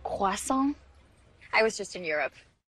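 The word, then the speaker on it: croissant: got back from Europe it's actually pronounced quason I was just in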